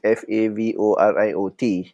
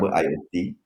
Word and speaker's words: FAVORIOT: Even though the spelling is FAVORIOT, okay, but the pronunciation is actually favorite, right?